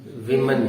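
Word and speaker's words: women: हाँ, उसका उच्चारण वुमन नहीं होता बेटा, विमन होता है, विमन।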